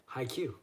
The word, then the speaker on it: haiku: high Q.